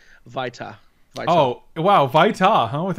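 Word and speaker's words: Vito: It's actually pronounced Vita.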